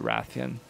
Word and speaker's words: Rathian: the Radian by herself I keep saying retaining Ratheon same thing I always said rate in but the voice actors in this game pronounce it Ratheon so I'll say wrothian just so people don't get confused but yeah I am